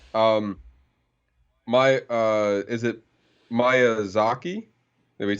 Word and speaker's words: Miyazaki: right okay Ghibli um my uh is it Maya Zaki nobody said Miyazaki um said that how do